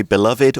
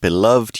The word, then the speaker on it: beloved: love basketball yeah and you can say beloved or just beloved you can sound that final syllable or not both ways of pronouncing it are okay so the article continues